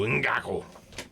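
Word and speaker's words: Ngakoue: Ngaku. You got to put emphasis, Yannick. though. You got to go Ngaku.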